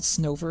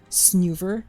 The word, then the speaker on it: Snover: I'm pretty sure the way you said Snover is how it's pronounced, but I've been saying Snoover because it's...